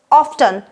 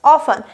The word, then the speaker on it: often: Some people say it's often and some say it's often. Now which one is correct? Now it is crucial to mention that both the pronunciation are 100% correct. You can use any.